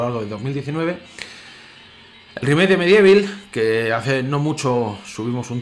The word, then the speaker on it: MediEvil: con medievil ya sabéis o medible cómo lo pronuncian algunos yo siempre diréis medievil pues pues por el simple hecho de como lo he conocido el juego y bueno hoy empezando